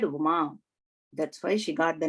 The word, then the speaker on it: Uma: That is how we need to pronounce actually. Uma, long one.